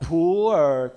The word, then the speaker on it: pu'er: In typical Chinese pronunciation, Mandarin pronunciation, it's called pu'er cha, pu'er tea. But with your typical intonation, it may become a poor tea. So I suggested to the company, don't say poor tea. It will sound like a poor tea. So say it like a pure tea.